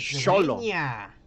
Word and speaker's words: Xolo: it's Xolo. It's Xolo? Xolo. Oh yeah, Like because the it's like Chinese. Xochitl. It's like Xochitl. Yeah. Pronounce So it like solo. the Chinese. No, do, it is like, solo. Xolo. It's solo. Xolo.